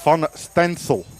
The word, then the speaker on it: Van Steensel: Nice message from Tim in the Netherlands, saying that the proper Dutch pronunciation of Todd's surname would be Van Stansel.